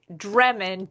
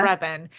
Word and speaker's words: Drebin: Frank Dremon, Dremon, and has no clue that he's said it wrong. Like No he's clue. trying to do it from the Naked Gun, Frank Yeah. Drebin.